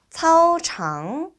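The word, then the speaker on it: 操场: 우리 차오장이라고 하는데 차오 요 발음하실 때 CAO지만 KAO랑 간혹 헷갈리는 경우가 있으신 것 같아요. 네, 그 부분은 우리가 발음하실 때 차오라고 발음해 주셔야 되고 우리가 설치음이라고 해서 바람 새는 요 발음이 나셔야 하는 거예요.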